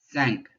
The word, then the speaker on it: cinq: Cinq. Cinq. C is pronounced like an S when there's an I behind it.